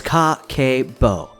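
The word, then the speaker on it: Kakeibo: let's get started what is kakebo it is pronounced as Ka K Bo which translates to household Finance Financial Ledger it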